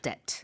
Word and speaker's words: debt: some point right and the B is silent right debt debt so indebted is